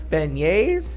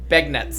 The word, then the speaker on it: beignets: Was like, Yeah, really, beignets? yeah. And you chewed too much, but we lost Molly. Well, because they're spelled. It's spelled That's why we lost it. B-E-N-I-E-T-S. Yeah, looks like begnets. Like John Benet.